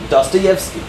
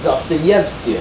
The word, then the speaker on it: Dostoevsky: Russian is that sometimes when you have a vowel combination like the O and the E, instead of being like an O or a E, it's a Ye. So Dostoevsky, not just Dostoevsky.